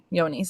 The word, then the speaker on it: Johne's: But CIE and CIE, CL and Yonis, which is spelled with a J, it's spelled like John, but Yonis is how it's pronounced.